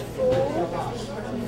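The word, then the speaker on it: 福: character actually means prosperity it's pronounced fo F you second time fo and it means Prosperity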